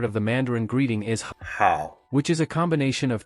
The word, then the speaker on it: 好: of the Mandarin greeting, which sounds somewhat like how in the English greeting, how are you? This section is quite straightforward to remember. The character for this part of the Mandarin greeting is hao, which is a combination